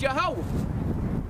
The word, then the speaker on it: Yahweh: Now, when you go into the Hebrew, you find out that the name of the Most High is Yahweh.